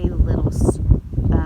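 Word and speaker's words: Lidl: Which is weird for us, but so we ran across a little grocery store. It's spelled L-I-D-L? L-I-D-L. So L-I-D-L, little.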